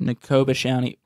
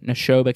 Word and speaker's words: Neshoba: wise we got the neko i can't even pronounce the dude nakobashani nekoba county fair neshoba county fair there it is